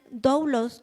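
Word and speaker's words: δοῦλος: Y la palabra siervo del original doublos con acento en la U significa esclavo literalmente o figurativamente, involuntario o voluntariamente, es en un sentido de sujeción o subordinación.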